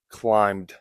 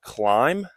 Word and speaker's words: climb: This hillside could have been where the enemy climbed up. Notice climb is silent B.